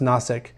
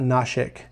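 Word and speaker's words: Nashik: the is any n-a-s-i-k but from mars is pronounced gnosic um not not nausic but around that area is where a lot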